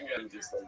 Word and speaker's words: Dagestan: Yeah, it's pronounced Dagestan.